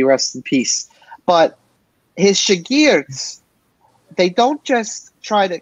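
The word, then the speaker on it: شاگرد: Is that how it's pronounced, I believe? Ustad and Shagird? Yes, sir. It is. Ustad and Shagird is something like exactly.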